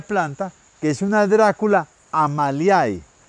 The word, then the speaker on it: Amaliae: Vamos a comenzar por esta bella planta que es una Dracula Amaliae. Dracula Amalia, Amaliae se escribe, Dracula Amalia.